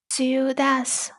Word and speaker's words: ciudad: in the middle, if it's at the end of the word, it's pronounced as th. Th. For example, dia. Dia means day, or ciudad. Ciudad, which means city.